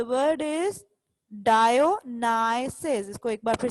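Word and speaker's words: Dionysus: डायोनाइसिस, the word is डायोनाइसिस। इसको एक बार फिर से देख लेते हैं। डायो, इधर तक आपने इसको कैसे प्रोनाउंस करना है, डायो, और यहाँ नाइसिस, डायोनाइसिस।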